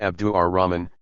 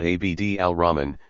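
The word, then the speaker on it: Abd al-Rahman: in proper names thus I write Abdu AR Ramen not ABD Al Ramen since this more accurately catches the pronunciation and avoids the impression that ABD could stand alone ottoman Turkish is given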